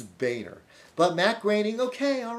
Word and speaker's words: Boehner: It's not Boner, it's Boehner.